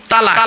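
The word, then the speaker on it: طلاق: শব্দটা তালাক বলবেন না, শব্দটা তালাক না। এইটাই তো ভুল হয় বাবা। এই জন্য আমি বলেছি বাবা, আলেমের ওয়াজ শুনবেন। চলো শব্দটা তালাক নয়, শব্দটা হলো তলাক।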